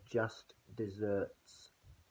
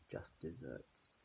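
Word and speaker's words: just deserts: ever heard this before as someone getting their just desserts just desserts not spelt de s the RT s which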